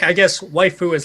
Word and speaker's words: waifu: and something else then it's pronounced waifu oh I thought they